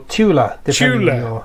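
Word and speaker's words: Thule: the fuel society or Tula yeah where you come from uh Neil is the linguist I think we do pronounce it fuel but because there are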